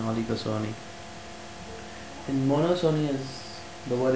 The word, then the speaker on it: oligopsony: P is silent, okay, monosony and oligosony.